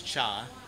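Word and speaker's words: ชา: Okay, and tea is cha.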